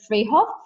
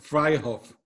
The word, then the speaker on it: Freyhoff: freehoff from edgy world wide in Germany so I pronounced your name right that live it names fry off fry there you go see ya first we